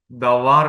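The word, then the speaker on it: דבר: വേർഡിന് പറയുന്നത് ദബാർ എന്നാണ് ദബാർ എഴുതുന്നത് ദ ദവ ദവ കുത്തുകൂടി ഇട്ടാൽ ദബാർ എന്ന് വരുുള്ളൂ ബേത്തിന്റെ കുത്തില്ലാത്തകൊണ്ട് ഉപച്ചിരിക്കുന്നത് ദവാർ എന്ന അതാണ് വേഡ് എന്ന് പറയുക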